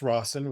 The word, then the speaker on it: Rosson: And it's pronounced Rosson with two S's. It's not Ros.